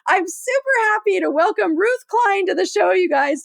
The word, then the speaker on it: Ruth Klein: have a little panic attack over can I pronounce their name? And so I'm super happy to welcome Ruth Klein to the show, you guys, today.